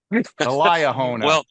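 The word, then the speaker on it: Liahona: the name of the church magazine to the Leah hona there's no way to mispronounce that if you're LDS oh very good elah hona I said if LDS this this right this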